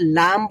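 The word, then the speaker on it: ل: তো ওই বিস্তর জায়গাটাই হচ্ছে পুরোটাই আমাদের এখানে লাগবে যখন আমরা লাম উচ্চারণ করব।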